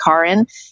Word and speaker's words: Karin: it became really important my name is actually pronounced karen you know i've i've moved my middle name to my last name but my name in german is so um i'm 100